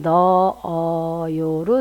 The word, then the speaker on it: 넣어요: 아어라면 자, 주스를 냉장고에 넣어요라고 발음을 하시면 히읗 소리가 안 나요. 그래서 우리는 뭐라고 발음하냐면 그냥 넣어요로 들려요. 그죠?